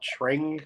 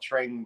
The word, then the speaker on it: Tring: It was called Tring, correct? Am I pronouncing that right? In Tring.